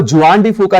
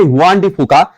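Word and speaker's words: Juan de Fuca: Eighth plate is हुआन डी फूका, इसको जुआन डी फूका नहीं प्रोनाउंस करेंगे, हम करेंगे हुआन डी फूका।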